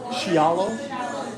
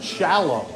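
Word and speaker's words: Scialo: Is it Xialo? Shallow. Just shallow like like the song.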